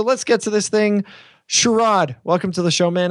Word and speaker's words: Sharad: It's Sharad.